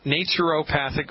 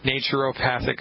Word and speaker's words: naturopath: Now, if you're from the United Kingdom, you pronounce that naturopath. But here in the good old US of A, it's naturopath.